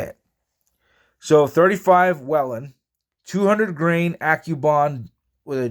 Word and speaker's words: Whelen: And it is WHELEN, not WHELEN. I've gone through and I've gotten the chance to look up and read everything as much as I can on it. It is WHELEN.